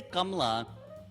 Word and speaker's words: Kamala: yeah totally when we when we say kamla i always think of it as two syllables and my mom is